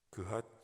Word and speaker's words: 그핫: 그핫 자손. 우리 모세오경에는 신명기 출애굽기에는 고핫이라고 되었죠. 발음을 이제 그핫 자손이라고 합니다.